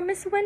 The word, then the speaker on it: Huynh: give you a hint it is the opposite of lose so the opposite of lose is win right so yeah that's